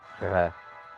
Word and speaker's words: Kars: family were from called Kars. That's spelled that way in Turkish, but it's really Ghars. Sound like a au revoir, like French. Kars.